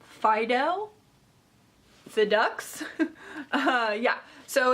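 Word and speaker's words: Phydeaux: This is from, also sounds French, Fideau. It's like one of those words with lots of silent letters. It is P-H-Y-D-E-A-U-X. Fideaux?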